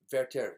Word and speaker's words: Werther: of young verter oh verter spells with a W in German pronounced with a V th is pronounced as a t ver the Sorrows of